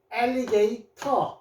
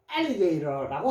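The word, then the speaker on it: alligator: 게이 엘리게이터 자 or 또 나왔네요. Ia r이면은 전부 다 어 소리 내더라. 어 그래서 엘리게이터인데요 모음과 모음 사이의 T는여 미국에서는 리얼로 많이 해요. 그래서 미국 사람들은 엘리게이러라고 합니다.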